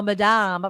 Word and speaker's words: Madame: on the end yes so Madame pronounced the French way no e it's Madam so it's on the first so it is Madame you have you have